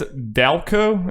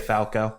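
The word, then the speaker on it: Daoko: heard it pronounced and apparently it's dalco it's d-a-o-k-o but she was my number one artist on spotify that's last year huh so that ain't falco that ain't falco um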